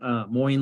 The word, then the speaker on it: Moin: I am moin moin like coins I had like psychology